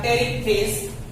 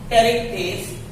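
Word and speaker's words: Pterichthyes: तीसरा था टेरिकफिश, P silent रहता है। टेरिकफिश।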